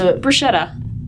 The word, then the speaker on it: bruschetta: So how do you pronounce bruschetta? Bruschetta. Bruschetta. I have always pronounced it bruschetta, so that's wrong? Yeah. I don't know. Well, keep in mind that we have Americanized a lot of these words. So and like, we don't have to pronounce an Italian word the same way they would pronounce it in Italy. So.